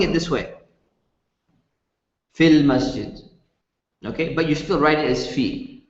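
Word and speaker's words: في المسجد: keep in mind that whenever you're reading the word fee and then Al comes afterwards you don't pronounce the long vowel you don't say feel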